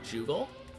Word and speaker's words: Jugal: And then I changed the pronunciation from a hard G to a soft G, so Jugal. And changed that G to a J to make it obvious that it sounded like a J.